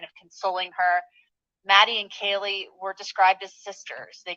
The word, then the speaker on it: Kaylee: mispronounced my sister's name he called her Kayla her name is Kaylee and the representative okay